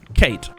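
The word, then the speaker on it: Cait: him by the way this lovely Irish lady's name is Kate but spelled with a c c a i t Kate and she's a lot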